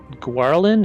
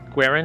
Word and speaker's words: Gwarin: Gwarin, is that how you pronounce it? I think so. Yeah. Gawarin? Yeah. Hold on. Gawarin? My spelling. I thought there was an L in it, but I don't know. There's no L in it.